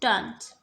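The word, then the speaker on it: Thames: द water side is द एज of London's great river, द river थेम्स, pronounced टन्स।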